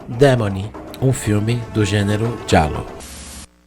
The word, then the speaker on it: giallo: um filme do gênero giallo. Eu adoro a pronúncia italiana. Giallo, giallo, Demoni é um filme italiano de gênero giallo, capisce?